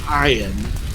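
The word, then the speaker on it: Ayn: oh so someone named and but actually it's pronounced I ed so someone named ayan brand who wrote the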